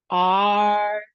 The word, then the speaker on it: archetype: So, instead of T, we're going to go ta. Okay, let's try it. Archetype.